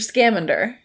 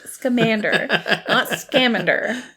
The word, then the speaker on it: Scamander: calling newt's commander mr scamander he keeps calling him uh mr scamender okay and it bothered me so much because i'm like no it's newt scamander like come on yeah sorry i feel